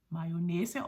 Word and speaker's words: mayonnaise: y o dou n a i s e mayona also in Danish Marines um and there was